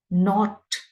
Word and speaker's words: knot: exactly the same manner not because the K in the first word is Silent not not they are